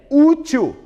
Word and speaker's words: útil: Professor, uma paroxítona que termina em L, útil. Chame o útil no portão. Útil. 2 sílabas. A penúltima é a mais forte e termina em L.